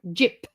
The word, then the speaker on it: gyp: But I say it right like Jib. Yeah. Jip. Jip. Oh, JIP. Yeah. Jip. Rock. Jip.